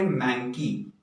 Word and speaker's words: manky: इसका प्रोनाउंसिएशन है मैंकी, एंड मैंकी इज an adjective.